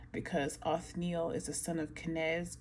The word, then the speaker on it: Othniel: Or no, Othniel. Let me pronounce that correctly. Othniel, right?